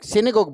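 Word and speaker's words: synagogue: तो बेटे प्रोनाउंसिएशन आपका होगा सिने और आपका आ जाएगा गोग, सिनेगोग बोला जाता है इसे।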